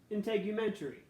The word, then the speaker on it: integumentary: dermis and fatty layer step 2 how to pronounce the name for the system in integumentary integumentary intake you venturi step 3 skin tone now